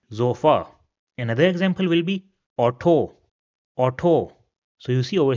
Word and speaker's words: Auto: Another example will be auto.